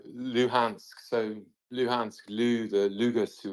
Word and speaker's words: Luhansk: There's a Russian way, which is Lugansk, but which is a Russian one, but there's Luhansk, which is the Ukrainian way to say it.